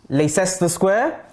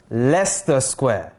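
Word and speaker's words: Leicester Square: ever visit in london les esta square uh-uh lester square say it right guys and this is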